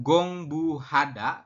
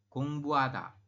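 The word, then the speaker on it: 공부하다: Contohnya kayak gini ya ini tidak dibaca Hnya ya Jadi anda bacanya bukan gongbuhada tapi dibacanya adalah gongbada gongbada seperti itu ya Jadi bukan gongbuhada tapi gongbada seperti itu penjelasannya Nah kalau misalkan posisinya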